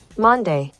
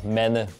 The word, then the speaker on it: Mande: of people call me they call me Monday or Mandy but correct pronunciation is uh men it is a Danish word but nobody can say it so I don't really